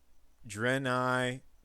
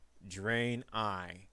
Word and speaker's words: Draenei: shaman deck up next dren I totem carver I've been told that the way to pronounce that is drain I so draenei the four